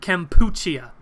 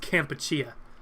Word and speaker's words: Kampuchea: for you I said I think it's pronounced Kampuchea camp but I'll be honest I